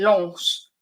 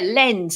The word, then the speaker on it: Lens: Pronouncing it Lens is the French, and bougie, and for bougie snobs. Yeah, lens, isn't it?